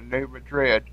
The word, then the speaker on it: New Madrid: the time for the New Madrid which is correctly pronounced new madri FL in the booill